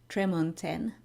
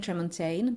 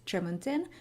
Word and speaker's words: Tremontaine: And I also learned that Ellen Kushner pronounces it Tremontaine. So I've been saying Tremontaine, but now I learned that the author herself says Tremontaine, so I will keep saying Tremontaine.